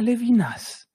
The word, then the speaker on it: Levinas: la ville en eau les vinasses en france un levinas au miracle s final qui est prononcé donc j'ai toujours croyez